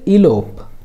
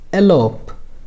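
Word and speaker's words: elope: এল ও পি ই শব্দটির American pronunciation হচ্ছে ইলোপ এবং ব্রিটিশ প্রোনাউন্সিয়েশন হচ্ছে এলোপ দুইটাই কারেক্ট আপনি যেকোনো একটি ব্যবহার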